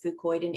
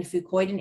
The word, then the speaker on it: fucoidan: there we're talking about the ingredient fucoid and f-u-c-o-i-d-a-n which is an extract sizzles food poison is pronounced the same way but spelled differently um